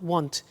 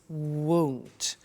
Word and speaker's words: won't: careful with the pronunciation it's not want it's won't so the example is